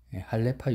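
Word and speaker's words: 할례파: 제가 말씀하면서 실수한 것이 할레파 유대인을 헬라파 유대인으로 잘못 발음을 했더라고요.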